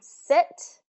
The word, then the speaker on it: sit: I hear this um so important to get those vowels those vowels right another one sit seat I want you to